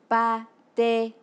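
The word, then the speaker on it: pa tê: dit on vienne amiens pas t il se prononce exactement quand le mot pâte et en français répétons encore et voit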